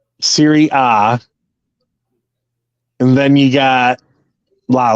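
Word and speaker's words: Serie A: a Bundesliga just like in Italian it's Syria you don't say A you say ah yeah right because it's very ah that's the a is silent yeah Siri ah and then you got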